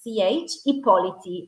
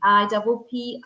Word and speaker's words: Ippoliti: they can find me on LinkedIn, Chiara, Chiara, Chiara, although it sounds like a K, but it's Ippoliti, Ippoliti, Ippoliti, and that's me on LinkedIn.